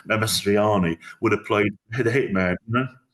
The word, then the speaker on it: Mastroianni: And Marcino Marcelloni, well, I've said it wrong, Mastroianni would have played the hitman, always the guy who Amadou was always going to play the terrorist.